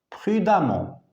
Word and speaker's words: prudemment: préférable de conduire prudemment attention on écrit e et on prononce a prudemment prudemment elle a répondu